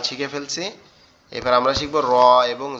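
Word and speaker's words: ر: তো আমরা এভাবে মুখস্থ করতে পারি, নাঙ্গলের ফালার মতো দেখতে তার নাম র, তার নাম র।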